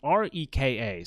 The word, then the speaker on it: Reka: So I'm not entirely sure how you pronounce it, but I'm going to say Reka. It's Reka.